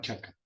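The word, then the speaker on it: cakka: Se llama Dhamma Chaka. ¿Dama? Chaka. Chaka es ojo. Chaca. Chaka es Kaka, con C, Chaca. y 2K. ¿Sí? Pero la C se pronuncia como Che.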